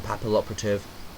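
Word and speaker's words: Papilloperative: uh two M stroke uh Cowboy uh Photon papal operative that's how you say it people by the way papal operative for those who don't actually know abyss dweller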